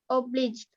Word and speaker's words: obliged: Okay, the I says the I sound, the long I sound, because it ends with an E.